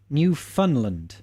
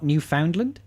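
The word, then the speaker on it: Newfoundland: boiling his Jam I beg your pardon it's pronounced new Funland not New Foundland oh is it is it it really new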